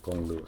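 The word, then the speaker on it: 公路: Gong, I think, is first tone. Lu is also fourth tone. Okay? Jiāotōng bu gōnglù.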